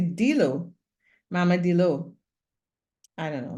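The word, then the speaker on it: D'Leau: It's pronounced DLO, but it's spelled DEL''EAU. I would say Dilo, Mama Dilo.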